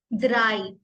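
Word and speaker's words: drei: बोलते हैं नल नल नल वन को हम प्रोनाउंस करेंगे ions ions ions same to स्वाय स्वाय three ड्राई दाई ड्राई four fear fear five फ्यूस फ्यूस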